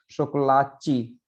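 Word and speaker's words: chocolate: वो क्या बोलेंगे इसको, शोकोलाची, है ना। तो जहां अगर कोई शब्द टी और ई पे खत्म होता है तो उसको उसका उच्चारण वो च के रूप में करते हैं।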